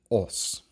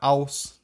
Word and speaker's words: os: And so we have os. Os, not aus, not os, but os. Basically just say ah, but round your lips.